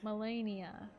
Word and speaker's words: Malenia: Malenia. That's how you pronounce it. I never really knew. Millicent, Malenia, do you detest us? Malenia. Like malaria. Okay, so that's it.